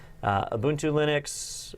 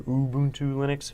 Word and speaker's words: Ubuntu: Ubuntu Linux, or Ubuntu Linux, if you say it right.